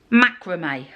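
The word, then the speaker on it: macramé: how you say it i've always called it macrami i've just looked at a few youtube videos and they call it macrame whatever however you call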